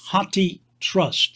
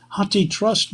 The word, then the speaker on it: HathiTrust: enough funds to support it second there is hati trust that's spelled h-a-t-h-i for elephant meaning elephant in hindi